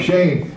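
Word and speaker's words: schen: dog a pretty dog Shane s c h e n is Shane it's pretty sh remember e is pronounced a have a good nice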